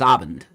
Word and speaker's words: Abend: Yeah, so I was saying it wrong. It's Abend. Okay.